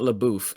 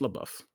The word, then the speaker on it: LaBeouf: what's up my game it's definitely not laboof it's just la buff it's just a little